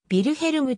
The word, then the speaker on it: ヴィルヘルム: と呼ばれたなはヴィルヘルムと表記する方がドイツ語の発音に近い 1888 年オーストリアハンガリー